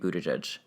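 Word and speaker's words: Buttigieg: she dropped out before pete butterjudge see that's how you say it drop down mayor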